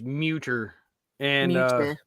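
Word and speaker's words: Mütter: So Raven says it's pronounced Muter, and Mute her.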